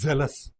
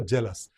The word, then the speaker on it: zealous: It is zealous. So we have another word jealous. And sometimes you find I I hear many sometimes some people you know they pronounce for this jealous and for this also jealous.